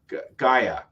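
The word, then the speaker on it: G'iah: wife passing, and then Gaia. I always wanted to say G at first because I saw hard G.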